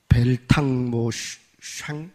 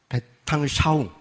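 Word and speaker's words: Weltanschauung: 이게 독일어인데 잘 못 읽겠네요. 벨탕 샹 이렇게 되나요? 베탕샤웅, 벨탕샤웅이라고 그러시네요. 그런 발음인가 봐요.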